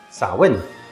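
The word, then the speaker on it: Samhain: It comes from an ancient Celtic festival called Sawin, spelled like this, which marks the end of the harvest and the start of the winter season.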